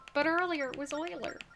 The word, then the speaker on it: Euler: Wheeler. But earlier it was Euler. Euler.